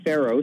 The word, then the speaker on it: Farrow: here's what I mean my last name is Pharaoh spell Farr oh w I'm not Egyptian but for some reason when I put on an Egyptian pharaoh hat when I'm on